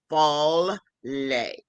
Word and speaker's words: Fallay: known as his stage name, and you better pronounce it right, Fallay.